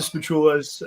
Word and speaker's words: Spachoolas: YouTube and it's going to be at the spatulas we spell it SP p a c h o o